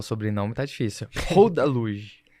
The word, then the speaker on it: Rodaluge: Rodaluge. Eu falei certo? Falou certo.